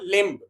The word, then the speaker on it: limb: For example, limb. Here limb. Which which letter does not limb? Say B is the consonant letter and it will become a silent letter.